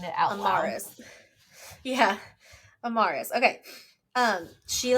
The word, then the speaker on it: Amaris: Amaris.